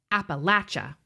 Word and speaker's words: Appalachia: outskirts of Appalachia, though deep enough that we learned the local pronunciation, Appalachia. It was far too small to have a movie theater.